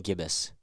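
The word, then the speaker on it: gibbous: and the waying gibbus Gib is it gibas gibbus I said it right the first time waning gibbus so here would be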